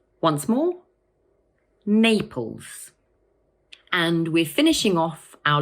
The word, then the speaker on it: Naples: It has two syllables, Naples, and the first one is stressed. So we say Naples. Once more, Naples.